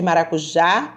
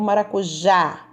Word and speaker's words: maracujá: para o jantar o maracujá com som bem aberto então já é a sílaba mais forte vai receber uma cento